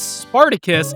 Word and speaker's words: Spartacos: They pronounce his name as Spartacus, but it's written as Spartacos.